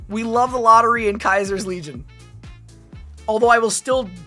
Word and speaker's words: Caesar: Kaiser is the proper way to say it.